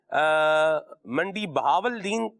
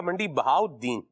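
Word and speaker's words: منڈی بہاؤالدین: تو یہ اس پر جب الف لام آئے گا تو وہ تلفظ، اس کا لام کا تلفظ جو ہے وہ نہیں ہوگا. ٹھیک ہے. جیسے منڈی بہاولدین یہ درست نہیں ہے، یہ بنے گا منڈی بہاؤدین.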